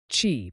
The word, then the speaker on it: qi: Chi, pronouncedqi, is the fundamental life force energy in traditional Chinese medicine.